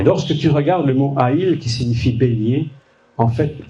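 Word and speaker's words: איל: Ça se prononce Haïl.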